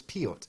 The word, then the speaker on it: Peart: He according to him, it was Peart is how you pronounce his name.